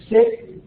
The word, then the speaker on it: Sikh: uh there's some question the term could also be pronounced sick and that seems to be the uh the preferred term but most westerners say seism so that's the one I've tended to tended to use so 20 million again